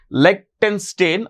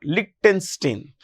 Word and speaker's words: Liechtenstein: So, Switzerland, Norway, you can pronounce it as Liechtenstein or Liechtenstein.